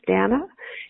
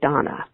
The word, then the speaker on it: Dana: Although her name is spelled as though it would be pronounced Dana, it's actually Donna.